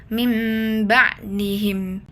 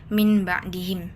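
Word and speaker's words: مِنْ بَعْدِهِمْ: Cara bacanya nun sukun berubah menjadi bunyi mim dan didegungkan. Jadi mim ba'dihim. Jadi tidak dibaca min ba'dihim tapi mim ba'dihim.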